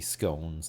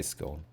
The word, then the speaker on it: scone: that kind of crap i say skull i think that's like going as well yeah i think that's the right way to say it that's the only way i've ever heard it yeah i think some people say i think americans will say scone sometimes which is a little bit weird but